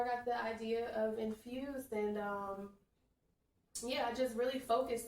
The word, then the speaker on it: NFSD: No vowels, but it is still pronounced Infused.